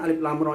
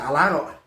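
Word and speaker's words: الر: Lam ro nah gitu jadi cara bacanya itu jangan dibaca Arok masuk melalui ditengah yang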